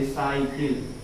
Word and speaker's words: cycle: आए, सी के बाद अगर वाई आता है तो भी सी को हम स पढ़ते हैं। जैसे एग्जांपल CYCLE, हिंदी में इसको ऐसे प्रोनाउंसिएशन करेंगे, साइकिल। ये साइकिल लिखा गया है।